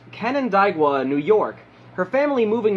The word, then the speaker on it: Canandaigua: She was raised in, I believe it is pronounced, Canandaigua, New York, her family moving there not long after she was born.